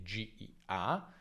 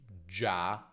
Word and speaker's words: già: o Giro, ma anche GIA, GIO e GIU come Gianni, gioco, giungla. Anche qui la I non si pronuncia, quindi già, gio, giù, non gia, gio, ok?